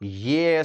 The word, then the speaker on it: yes: तो लड़का कहता है एस सर। आर you happy? S सर। एस कह के उसे में सिमट जाता है। मत सिमटो भाई, ये कैसे उच्चारण होगा? यस सर, यस सर।